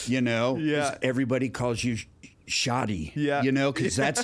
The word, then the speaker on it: Shadi: However, your beautiful bride did, you know, she was like, you know, it's Shadi, you know, and if anybody's going to correct someone, it's going to be Sandra.